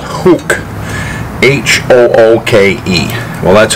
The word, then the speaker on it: Hooke: And these are by a company called Hooke, H-O-O-K-E. Well, that's how I pronounce it, Hooke.